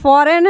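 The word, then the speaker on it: foreign: उसी तरह से आपका फॉरेन है, इसमें भी हमारा G का उच्चारण नहीं हो रहा है। उसी तरह से रेन है, इसमें भी हमारा G का उच्चारण नहीं हो रहा है।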